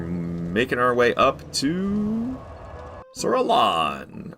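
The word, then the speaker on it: Alonne: I've heard people make pretty uh pretty convincing arguments that it's pronounced it actually is pronounced sir alone. I'm just going to keep saying Sir Alon. I'm sorry. It's got two ends in it.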